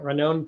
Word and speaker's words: Ranon: my name is uh renowned teller you pronounce it like ramon but with two n's instead of an m and an n so ranon teller pronouns are he and